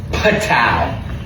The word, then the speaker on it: Patau: Patal kind of like kapow but pat. Yes. P A T A U. A U. Pat. I think we're saying it right.